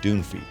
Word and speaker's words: Dunphy: So I looked it up, and the pronunciation is actually Dunphy, named for William Dunphy, the Irish immigrant who settled in Boulder Valley in 1870.